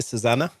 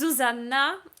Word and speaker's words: Zuzanna: So it's Zuzanna, and the family name is.